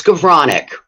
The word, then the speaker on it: Skowronek: It's Skowronek. It's Polish. The W is a V.